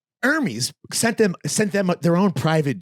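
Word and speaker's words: Hermès: by talking about the little influencer trip with Hermes that you and I went on. And I'm like, wait, she calls it Hermes?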